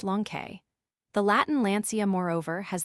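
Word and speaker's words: λόγχη: This name Longinus is related to that of the spear itself, in Greek logke, pronounced lonke.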